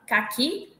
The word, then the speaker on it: caqui: paroxítona cará oxítona cak caqui cak paroxítona caqui oxítona ca será Sera paroxítona